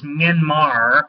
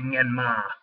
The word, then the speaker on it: Myanmar: by the way, the term used now is Myanmar, with an R in the end. That's not actually how one says it. You'll never hear it pronounced correctly in the news media, but it's actually Myanmar, which is the ancient name for that place.